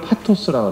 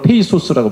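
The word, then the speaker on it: pathos: 그러잖아요 그다음에 감성적이다 이거를 파토스를 그래 영어로 페이소스고 발음을 하다 페이소스가 뭔가를 누가 나왔어 자꾸 페이소스 페이소스 그래가지고 토스라 그 그리스 말로 파토스 그래요 이게 이거 영어식 발음으로 페이 소스라고 발음을 이런 렇게 전 그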